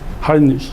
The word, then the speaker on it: Heinrich: 하인리히, 독일어죠. 리히. 이 독일어는 CH를 이렇게 발음해요. 하인리히.